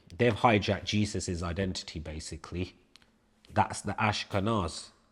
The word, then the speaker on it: Jesus: So same way when people say Jesus, you're saying the whole name incorrectly because it's never a J. Do you mean it's it's it's a Y really? Right. Jesus.